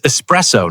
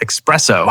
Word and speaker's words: espresso: Be careful, it's espresso, not espresso. Yes, yes. That's a common mistake.